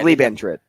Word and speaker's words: Liebentritt: Lee hyphen BAN hyphen. I said ban. TRITT. And it's Lieben. So it's Liebentritt.